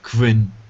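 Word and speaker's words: KWin: Plasma 5, the themes, Qwin, desktop settings and stuff like that? And then you can start into going into the widgets. Qwin. Qwin. Martin always pronounces it Quinn.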